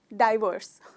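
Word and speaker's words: divorce: इसमें दोस्तों मुझे आपको बताते हुए बहुत खुशी हो रही है कि इसका भी प्रोनाउंसिएशन वो डायरेक्ट का जो डाई है, बस इसमें भी वो ही है, डाइवर्स।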